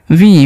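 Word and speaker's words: we: Last में अगर इ रहे तो दीर्घ ई तो हो गया वी।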